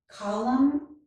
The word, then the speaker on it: column: When the letters M and N occur together at the end of a word, the letter N is usually silent. Here are some examples. Column, autumn.